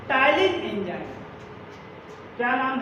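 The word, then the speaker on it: ptyalin: सबसे पहला एंजाइम है जिसका नाम है टाइलिन एंजाइम। क्या नाम है? टाइलिन। टाइलिन एंजाइम को बोलते हैं क्या? Salivary amylase enzyme. Slavery amylase enzyme. तो देखिएगा टाइलिन में यहाँ पे पी साइलेंट है, पी साइलेंट है।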